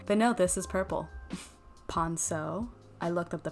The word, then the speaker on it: ponceau: Ponceau. I looked up the pronunciation.